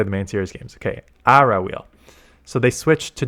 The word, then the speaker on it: Aura: me with the saying it's ARA ARA so it's not Aura it's ARA wheel okay ARA wheel it's